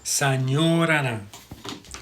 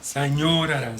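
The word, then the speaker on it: さようなら: Sayonara. Sayonara. See, Americans say sayonara, but it's さようなら。 sayonara. That you hold that O.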